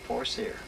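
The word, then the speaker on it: Forcier: How do you spell that? V-E-R-L-I-N-F-O-R-C-I-E-R, Forsyre.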